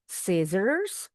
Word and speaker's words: scissors: Scissors or scissors. Yang penting S-nya yang di belakang bunyinya seperti huruf Z.